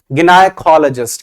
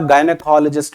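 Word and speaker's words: gynecologist: अब वैसे आपको बता देता हूं, बुक के अकॉर्डिंग प्रोनाउंसिएशन एक अलग है। यहां पे अगर जो आप देखोगे गिनाइकोलॉजिस्ट देखने को मिलेगा, वैसे आप गायनेकोलॉजिस्ट भी बोल सकते हो, गायनिकोलॉजिस्ट भी बोल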